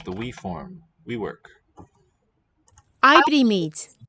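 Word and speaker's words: oibrímid: Ibrimid. It's spelled O-I, but the sound is not oi, but I.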